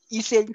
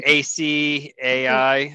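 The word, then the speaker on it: Açaí: All right, I didn't really play around with the I don't even know how to say it. ECI. Oh, the ACAI, Acai.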